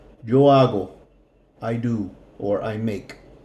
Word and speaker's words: hago: okay so I'll go remember the H is silent yo hago I do or I